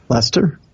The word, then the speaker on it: Leicester: Lester? Leicester? Leicester? I think overseas it's Lester, but...